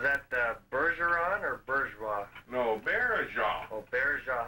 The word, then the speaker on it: Baillargeon: That's spelled B-A-I-L-G-E-R-O-N. That's pretty close, but it's pronounced Baillargeon. It's not Bergeron or anything like that. It's like, phonetically in English, we'd say Baillargeon, if you know what I mean.